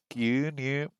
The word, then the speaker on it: 牛乳: Gyunyu. I think that must come from the Chinese pronunciation.